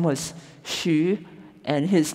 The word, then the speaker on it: Hsu: was h s so my dad's name was Shu and his name is Hsu and my mom's name is k-i-a-h-s-u-a-n-g it's pronounced joshuan but it's different if now it